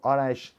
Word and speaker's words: Arash: So Arash has two syllables, Ara and Ash.